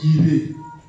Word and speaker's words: Jireh: Nous on dit Jireh. Voilà. Or en hébreu, la lettre J n'existe pas. Voilà. C'est le yod. Le yod qui existe. Donc la deuxième lettre de l'alphabet. Donc normalement, l'hébreu il prononce Yireh.